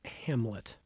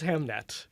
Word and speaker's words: Hamnet: I think it's pronounced Hamlet. This one is Hamnet. Hamnet.